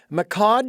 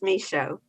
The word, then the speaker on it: Michaud: And, your last name is pronounced uh Mod. Is that correct? Um nope. No. Please pronounce that for me. The D is silent. It's Misho.